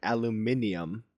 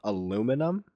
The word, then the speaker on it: aluminium: Aluminium, but the metal itself, aluminum.